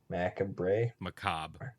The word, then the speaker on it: macabre: pronounce this word right, macabre. There's an R in it, Ben. It's French. They don't use all the letters.